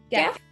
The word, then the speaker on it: Geff: Okay, I'm gonna get the Geff. Hard G on that one.